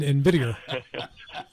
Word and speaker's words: NVIDIA: Could you please pronounce these stocks correctly? It's Tesla and NVIDIA.